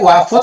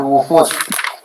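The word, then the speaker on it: الوفود: satu lagi saat untuk apa tadi wafud apa wufud bacanya putusan. Al-wufud. Al-wufud itu jamak dari wafdun, jamaknya wufudun. Artinya Wafdun ya.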